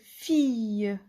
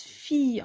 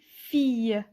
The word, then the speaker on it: fille: F-I-Fi, 2-L-E, ie, fille. On prononce fille, on lit pas fil, mais on lit fille.